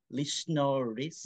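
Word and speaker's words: Lichnerowicz: How do you pronounce it? Lyushnerovitz.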